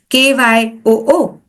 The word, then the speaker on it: queue: Words like Q, spelled as Queue, pronounced as Kyoo, or the word chaos.